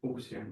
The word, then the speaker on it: Fuchsian: So this is I assume I already all of you know what's a Kleinian group and what's a Fuchsian group, right? So Correct pronunciation was Fuchsian.